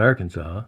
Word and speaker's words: Arkansas: That's not Arkansas. No, it sure Even though it isn't. sounds like it should, because you don't pronounce the last S.